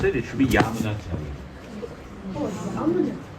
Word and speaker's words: Yamunacharya: So it is, when we pronounce it, it should be Yamunacharya. Oh, Yamunacharya. Not Yamunacharya, Yamunacharya.